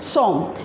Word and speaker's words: sommes: S-O-M-M-E-S, som, and the meaning is R.